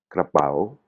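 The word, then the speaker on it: กระเป๋า: Ou inversement, euh, je sais pas moi, on a "krapao". "Krapao", le "pao", "pao", hein, il est un peu il est il il est cassé, l'intonation elle est cassée.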